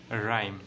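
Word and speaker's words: rhyme: তারপরে দেখো number two আর এইচ ওয়াই এম ই, এটার উচ্চারণটা হচ্ছে রাইম, তাহলে এটার উচ্চারণ কি বলো?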